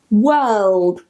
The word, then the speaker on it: world: it's okay the next word is world and this one tends to be a massive pain for people so it's the same vowel uh uh the r again and the variety i'm teaching you is silent now the difference between this one and the other one is we've got that le in there now the problem with